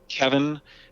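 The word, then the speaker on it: Cevin: going on and um kevin uh which is spelled c-e-v-i-n which is really unique the first time you try to pronounce it when you're on a zoom call with him but uh kevin also brought three mark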